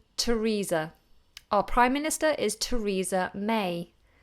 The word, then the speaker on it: Theresa: our prime minister is Theresa May again it's pronounced always with this T but these these are